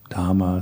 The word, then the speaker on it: Dhamma: So do try to pronounce all H's in Dhamma, Buddha, Sangha. And that's always difficult because, as I said before, in English we usually just skip over H's when they're next to a consonant. So Buddha, Dhamma, Sangha.